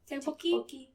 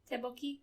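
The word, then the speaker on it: 떡볶이: It's those extra Ks that kind of throw me off. Silent? Is it kind of there? Kind of. I'm not really the person to ask. Tteokbokki. Tteokbokki. That's how I would say it.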